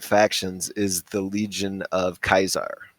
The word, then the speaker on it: Caesar: word written, and so he pronounced it Kaisar, Cae Kai Sar, Kaisar. And so everyone refers to him as Kaisar, and he's the leader